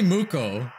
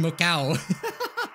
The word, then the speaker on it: Muko: It's probably Muko, isn't it? Yeah, Muko. It's totally Muko. It's Muko. I've been saying Mukau.